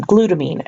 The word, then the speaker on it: glutamine: cysteine just a note all of these terms like the names of the different nitrogen bases or the names of these amino acids all tender rhyme with the word scene or team so for example you